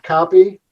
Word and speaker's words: Kauppi: come from finnish information we pronounce it copy uh it's k-a-u-p-p-i and